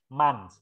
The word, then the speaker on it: months: Months. Tulisannya memang O, tapi bacanya A.